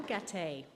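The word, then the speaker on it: Gaté: the stage Monsieur Gabrielle gate it rhymes with Patty that's the easiest way um I could I've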